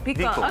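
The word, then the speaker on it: BeCool: Just imagine you're saying be cool. Vickle, okay.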